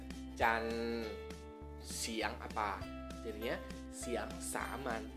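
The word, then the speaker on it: จันทร์: Jadi dibacanya Can, siang apa?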